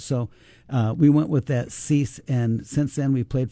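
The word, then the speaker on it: Ceyx: So we talk about Cease. I want to talk about Cease a little bit, the band. And by the way, folks, it's spelled C-E-Y-X.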